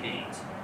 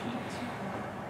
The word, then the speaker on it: Keynes: said right and again remember it's spelled keynes please call them canes he's a brit they get upset if we call them keynes okay so this is